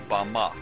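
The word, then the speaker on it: בָּמָה: in the Strong's Hebrew dictionary and it is pronounced Bama Bama is most commonly used to refer to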